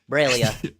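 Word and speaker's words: Breil'lya: of uh filia's AIDS I believe it's bra braia braia remember was that's how the audio book pronounces it braia braia okay thank you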